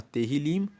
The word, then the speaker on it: Tehillim: O livro de Salmos, e no hebraico se chama Tehillim, se escreve T-E-H-I-L-I-M, e Tehillim significa louvores.